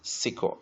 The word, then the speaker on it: sequel: Let's use phonic to explain how those two vocabulary are pronounced. 先看第一个单词 sequel, S-E-Q-U-E-L, S-E interpon, S-Q-U-E-L.